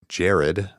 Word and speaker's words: Jared: Damage Inc., Jared, pronounced like the jewelry store, LOL.